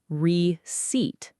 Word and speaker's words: receipt: The P is completely silent. It's receipt, not receipt.